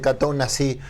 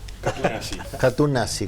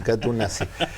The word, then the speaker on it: Katoen Natie: Un gusto recibir en buscadores a Fernando Correa, gerente de relaciones institucionales de Catón Nasí. Lo pronuncié bien. Katú nazi. Katú nazi.